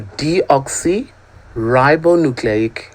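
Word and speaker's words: deoxyribonucleic: long term but let's just break it down into syllables okay deoxy that's the D ribbo nucleic n acid so deoxy ribonucleic acid the more you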